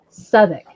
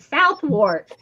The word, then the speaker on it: Southwark: It's called Southwark, but it's spelt Southwark. Southwark. Southwark. But it's pronounced Southwark.